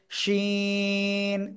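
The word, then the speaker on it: شين: উপরে তালুর সাথে লাগিয়ে শাসা শব্দ করে আমরা উচ্চারণ করব শিন তিন আলিফটা নিয়া সবাই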